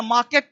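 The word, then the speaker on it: market: ही हो गया ए ये आर हो गया साइलेंट तो ये बन गया मार्केट है ना लेकिन बोला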